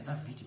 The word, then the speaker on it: David: E tudo indica que se trata de uma cidade onde o rei David, é David mesmo a pronúncia, tudo indica que se trata de uma cidade onde o rei David imperou antes de ser coroado em Hebrom.